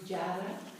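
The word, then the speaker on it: जड: It's a D with a dot under it. Jada. So it's difficult to pronounce properly in English. It has a bit of an R sound. Jada. Yeah, I can't say it. Jar. It's not like a hard R.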